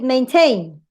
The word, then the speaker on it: maintain: If you have a strong in the last and a strong in the first, the stress goes in the last, in final syllable. So that's why it is rotate, rotate. The same with maintain.